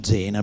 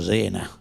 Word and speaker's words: Zena: In realtà Remigio Zena bisognerebbe pronunciarlo Remigio Sena, perché aveva scelto questo pseudonimo in omaggio alla sua città della famiglia.